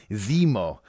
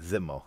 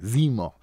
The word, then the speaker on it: Zemo: these comic book creators which is awesome it's pronounced Zemo not zimo Zemo right I said it right Zemo the first villain who actually want facts yes